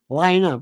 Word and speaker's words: Lionel: Lionel. Rhymes with vinyl.